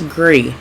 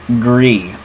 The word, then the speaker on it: Gris: and I don't know how do we pronounce this agree agree all right it's French for gray now Kelly you played